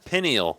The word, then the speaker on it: pineal: Penile gland. Jesus. Parasympathetic? Penile, penile, I penile. don't know, penile gland. Actually, bro, pineal.